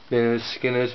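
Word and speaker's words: Lynyrd Skynyrd: a lot better actually l skinners pronounced L skinners and that's the name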